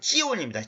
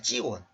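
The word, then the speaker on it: צִיּוֹן: 지온을 위하여 내가 원래 히브리어 발음으로는 찌온입니다. 찌온.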